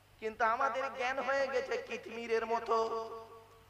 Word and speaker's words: কিতমির: গণ্য হবে সুবহানাল্লাহ কিন্তু আমাদের জ্ঞান হয়ে গেছে কিতমিরের মত কি বললাম কি বললাম কিতমির কি বললাম বলুন কিতমির বলুন উচ্চারণটা করুন কিতমির কয় হস্বই ত ময় দীর্ঘই